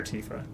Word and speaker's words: Tifa: Is it pronounced Tifa or Tifa?